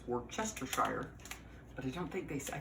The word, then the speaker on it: Worcestershire: And it's actually, if if you pronounce it phonetically, it's Worcestershire, but I don't think I think they almost